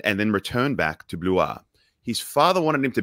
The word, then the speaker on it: Blois: He was born in a place in France called Blois, which I had to look up because it's spelled B-L-O-I-S, not Blaus.